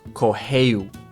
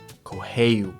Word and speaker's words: correu: So when there's an R at the beginning of the word or there's two R's together, you make an H sound. So again, this is pronounced correu, correu.